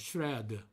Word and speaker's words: shred: 흔히들 삼음절로 shred라고 발음합니다. shred. 그런데 단음절 발음이죠. shred. 이와 같이 발음합니다. 그래서 여기도 쉬라고 우이를 발음하지 않고요. shred라고 해서 우이로 발음하지 않고 shred로 발음해야 됩니다.